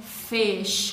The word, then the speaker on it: fish: Não é para ler fish, porque tem muita gente que fala fish ou fish. Tá errado. É fish com som de E.